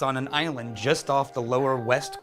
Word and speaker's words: Islay: made in Scotland Iowa means it's on an island just off the lower west coast of Scotland just alphaf Campbelltown it's a spelled is la whaai and pronounced isla okay if not Islay or easily or Isley it's Iowa it was